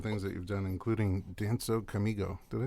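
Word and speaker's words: Dança Comigo: And we went through your awesome things that you've done, including Danzo Comigo.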